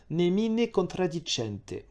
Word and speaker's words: Nemine contradicente: La conférence a approuvé la déclaration suivante, Nemine contradicente. Oui, je prononce à l'italienne, mais c'est pas grave.